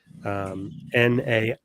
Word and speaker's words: NAMI: So NAMI, NAMI, I believe is the pronunciation.